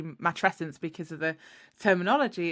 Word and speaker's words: matrescence: it's funny isn't it lots of people kind of go mat matent or I mean I guess you could pronounce it like that if you wanted to I don't know but I i' I've only known it to be matrescence because of the terminology